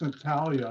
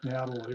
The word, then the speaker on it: Natalia: It's Natalia, not Natalie, right?